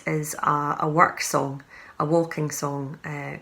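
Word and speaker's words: waulking: Now, it's not the kind of walking where you would walk down the street. Walking, which is spelled W-A-U-L-K, would have been a process that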